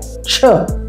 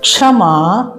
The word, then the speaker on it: क्ष: अगला संयुक्त वर्ण है छ छ छ नहीं कहेंगे इसको कहेंगे क्ष क्ष इसमें क और श मिला रहता है का आधा होता है और श पूरा होता है देखिए कैसे बनता